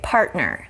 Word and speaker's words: partner: we can clarify that first example is partner okay partner so you can already hear that that t in the middle is a stop so let's talk about the rule first before the t there's an r sound and after the t there's an n sound okay so that's the